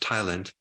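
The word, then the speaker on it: ptyalin: there's this enzyme called Thailand which the p is silent but it's pronounced Thailand which is is basically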